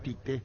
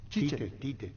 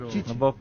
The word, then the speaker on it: Tite: Pero moderno Oscar Ullón dice, perdón Pancho, no es Tite, no lleva acento en la E. Tite, lo que quiere que diga Oscar Ullón. Sí. No, si vamos a la pronunciación de los brasileños Chiche. Fabián pronuncia mal.